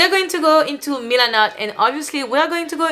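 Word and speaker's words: Milanote: found this app called milanot mylanna i don't know how you pronounce it i think it's milanat and it's a pretty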